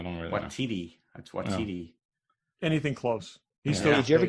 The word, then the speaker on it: Waititi: That's Waititi.